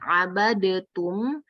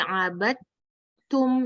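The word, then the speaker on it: عبدتم: Jadi di sini bacanya itu bukan abadetum, tapi abadtum. Nah, lidahnya tuh langsung ketak aja, abadtum.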